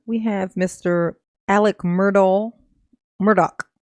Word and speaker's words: Murdaugh: have Mr Alec Myrtle Murdoch they say it Murdoch spelled like Myrtle so I what I